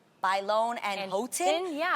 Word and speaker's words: Bailon: Adrienne Bailon. Yeah. No one can pronounce my last name. Oh, yeah, you were So saying. I get Adrienne Balion, Adrienne Bailon, Adrienne, I don't know what.